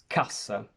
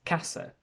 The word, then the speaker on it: cassa: If I read the word cassa with double S, which means case or box, and if I pronounce it with an English accent, I will pronounce it as casa, because my brain and